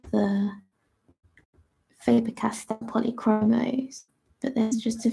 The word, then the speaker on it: Faber-Castell: I mostly just use the Caran d'Ache Illuminance and Faber-Castell. Why keep saying castle? Polychromos. Sort of spelled like castle, but it's not.